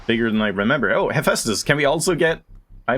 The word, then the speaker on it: Hephaestus: watched other people and no one has pronounced it Hephaestus like I do. But turns out I am right, everyone else is wrong, I'm the best.